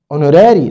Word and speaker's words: honorary: PS prize honorary degree honorary which is silent institutions institutions molecular science